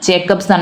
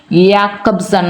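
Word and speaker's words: Jakobson: So pronunciation is Jacob എന്നാണ്. Jacobson എന്ന് പറയും, പക്ഷേ യാക്കബ് എന്നാണ് പറയേണ്ടത്. ഇദ്ദേഹത്തിൻ്റെ പേര് പണ്ട് മുതലേ നമ്മൾ അങ്ങനെ പറയത്തുള്ളൂ. യാക്കബ്സൺ എന്ന് പ്രൊനൗൺസ് ചെയ്യുക. യ സൗണ്ടാണ്. So Roman Jacobson has given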